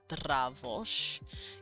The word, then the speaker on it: Dravosh: Dravosh. Yes, Dra is 1 syllable. It's not Dra or D-R-A, it's Dra. Dra. They consider this 1 sound. Because they're silly. Dr is 1 sound.